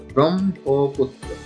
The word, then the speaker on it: ব্রহ্মপুত্র: ব্রহ্মপুত্র, সঠিক উচ্চারণ হচ্ছে ব্রহ্মপুত্র। এই যুক্ত ব্যঞ্জন টির মধ্যে হ এবং এর সঙ্গে ম ফলা যুক্ত রয়েছে। হ এর সঙ্গে ম ফলা যুক্ত হওয়ার কারণে আগে ম উচ্চারণ হবে এবং তারপরে হ উচ্চারণ।